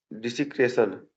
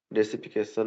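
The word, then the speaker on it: desecration: डिसीक्रेशन यहां पर गलत प्रोनाउंसिएशन लिख दिया है। इसका मतलब होता है अपवित्रीकरण या अनादर डेसिफिकेशन नहीं डिसक्रेशन है ना डिसक्रेशन प्रोफेस प्रोफेनेशन प्रोफेनेशन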